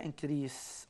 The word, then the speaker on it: increase: وخلي بالك خطأ شائع، الناس بتقول increase، لا النطق صحيح ليها increase.